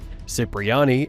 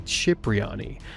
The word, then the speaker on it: Cipriani: Tony's last name is pronounced two different ways in the game, Cypriyani and Cipriani. Technically, the correct Italian pronunciation would be Chipriani, but we're going to